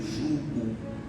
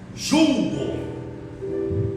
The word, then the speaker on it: jugo: E Jesus está dizendo: toma aí meu jugo. E não é julgo, como nós temos o costume de dizer, pronunciar errado.